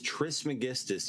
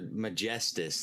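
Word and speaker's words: Trismegistus: yeah that's beautiful ties Tris Magistas you guys you're like the word and you say it like almost like I hear majestus like almost like the word majesty or yeah it means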